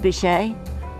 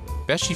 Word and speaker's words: Beachy: It's not pronounced Bechet. Beachy Furniture, located next to the Mermaid a few miles from the Delaware beaches on US Route 9.